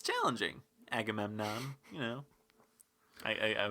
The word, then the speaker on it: Agamemnon: I kind of liked how no one seemed able to pronounce Agamemnon there where Well, I mean, actually, mostly it was pronounced properly, but it was it was flubbed on a couple of occasions. I think I heard Agamenmon. Yeah.